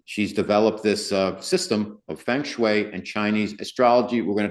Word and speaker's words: Feng Shui: I say Feng Shui. Some people say Feng Shui and all that, but Feng Shui, that's how it's spelled.